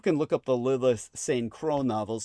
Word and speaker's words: St. Croix: So people can look up the Lilith St. Croix novels, spelled like Saint Crow, the last name, but it says a lot.